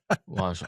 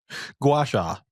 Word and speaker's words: gua sha: It's spelled gu a space s h a guasha. Oh my freaking gosh. Guasha.